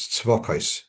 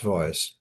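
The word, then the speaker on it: צבאות: hear the name as it being pronounced as Tzvokos. It's pronounced Tzvois.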